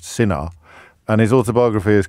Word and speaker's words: Sinha: to bear in mind his surname is Sinha, so spelled Sinha but pronounced Sinha, and his autobiography is called No, sorry, I've messed it up after that big build-up.